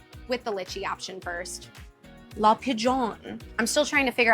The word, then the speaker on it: La Pigeon: I also got the La Pigeon. It's spelled La Pigeon, but they told me I have to get fancy with it, so La Pigeon.